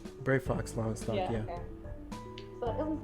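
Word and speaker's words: Brayfox's Longstop: Brave Fox Longstop, yeah.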